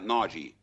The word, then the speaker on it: Nagy: En Italia, el apellido Se pronuncia Nagy.